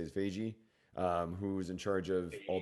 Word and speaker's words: Feige: And then the article also described how there's no Kevin Feige, forgetting how to say it, Feige, who's in charge of all the Marvel.